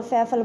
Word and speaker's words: फ़: अगर आपसे कोई पूछे तो आप सीधा इनको जय, जग और फैफल बताओगे, लेकिन ये वो नहीं है। इनका बिंदी लगने के कारण इनका उच्चारण जो है वो बदल जाता है। बिंदी लगने के कारण इनका उच्चारण कैसा हो जाता है? फीका हो जाता है, हल्का हो जाता है। इसको हम बोलेंगे ज़ और इसको बोलेंगे फ।